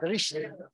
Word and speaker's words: Drishti: It's definitely a sh, a drish. Drishti.